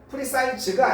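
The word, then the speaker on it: precise: 풀이 사이즈에서 나온 거죠 프리사이즈가 아니에요 프리사이즈 발음이 S 발음이에요 알겠죠 어 프리사이즈 자 이그젝트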